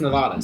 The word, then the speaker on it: Nevada: Well, it's pronounced Nevada, so. fuck off. People from Nevada call it Nevada.